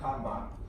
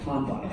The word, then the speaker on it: Kanban: It's Japanese, yeah, and it's pronounced Kanban. Oh, okay. Oh, yeah, here we go. It came out It's Japanese and it's pronounced Kanban.